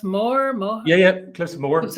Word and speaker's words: Moher: Is it pronounced Moher?